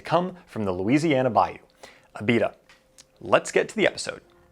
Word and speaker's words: Abita: lakes of pontchartrain and it's pronounced abita not abda which is a mistake